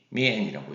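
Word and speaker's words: 面: 그래서 미엔이라고 읽으시면 되겠어요.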